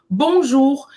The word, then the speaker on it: Bonjour: as culturas são diferentes então Bonjour você vai pronunciar o r no final da palavra e o ouu tem som de u da letra u em português BJ significa Bom dia